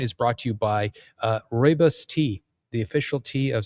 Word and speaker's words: Rooibos: And this point is brought to you by Rooibos tea, the official tea of South Africa.